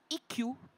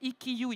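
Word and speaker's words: Ikkyū: Mais là, celui que je suivais, les Japonais, parce que j'en ai vu l'autre jour en librairie, prononcent Ikkyu. Quand je disais Ikkyu, ils ne comprenaient rien.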